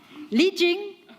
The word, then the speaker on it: Lijing: as currently pronounced it okay let's redo and officially lijing and is that then the the better way that's much better thank you today is